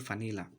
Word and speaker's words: vanilla: Contoh vanilla maka dibaca menjadi vanilla.